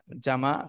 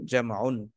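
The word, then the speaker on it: جمع: আরবিতে উচ্চারণ করতে পারি পরিপূর্ণ উচ্চারণ করা যায় অসুবিধা নেই ওয়াহিদুন তাসনিয়াতুন জামাউন কিন্তু এটা যেহেতু শেষে ওয়াকফ করা হয় ওয়াকফ করলে শেষে হারাকাত পড়ে যায় অর্থাৎ শেষে সাকিন হয় ওয়াহেদ তাসনিয়া জামা ওয়াহেদ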